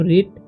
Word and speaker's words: writ: ठीक है, तो यहाँ पर W का उच्चारण नहीं होगा, इसे पढ़ेंगे हम रिट।